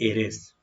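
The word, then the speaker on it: heiress: आगे देखिए जैसे कि इसको हम लोग पढ़ने वाला है एरेस, ए रेस, ठीक है ना, उत्तराधिकारिणी हो जाता है।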